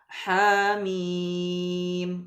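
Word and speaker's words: حم: surah pada lafal him maka tidak boleh membacanya ha mim akan tetapi kita Bacanya apa ha mim tanpa adanya Hamzah mudah-mudahan bisa dapat dipahami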